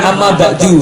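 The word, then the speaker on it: أما بعد: Jadinya tidak terlalu Ya, sama dengan amma ba'du ya. Amma ba'du. Amma ba'du. Nanti gimana bacanya? Sama seperti ini. Amma ba'd. Yang benar seperti itu.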